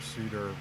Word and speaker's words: C-DAR: C-DAR Farm. C-DAR Farm. We didn't spell it C-E-D-A-R because somebody already was using it.